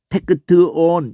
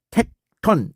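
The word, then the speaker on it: τέκτων: 이렇게 발음한다는 게 아니고 테크트온 이렇게 발음한다는 게 아니야. 텍톤 이렇게 발음해요.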